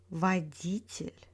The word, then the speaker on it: водитель: In words with тель, stress falls on the syllable before тель. This one is the most reliable rules in Russian. For example, учитель, строитель, водитель, обстоятельства.